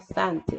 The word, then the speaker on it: scent: scent. S 묵음. 그래서 scent입니다.